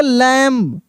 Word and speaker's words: lamb: अब देखिए यहाँ पे इसको हम पढ़ेंगे लैम्ब, क्या पढ़ेंगे, लैम्ब पढ़ेंगे, लैम्ब नहीं, लैम्ब, यानी बी साइलेंट है, यहाँ पे बी लिखा तो गया है लेकिन साइलेंट लेटर है, क्या है, साइलेंट, लैम्ब, लैम्ब नहीं, लैम्ब, ठीक है ना।